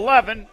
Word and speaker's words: Levis: I think I said Levin. I'm wrong. Levis, You've said Levin multiple times. But you didn't just say, that's not his name, I was Homer. trying to softly correct you there with pronouncing it correctly.